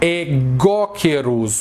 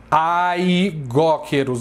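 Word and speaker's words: αἰγόκερως: Então não se fala aigóqueros, não é aigóqueros, é egóqueros. Egóqueros, entendeu? O alfa e o iota juntos eles têm som de E.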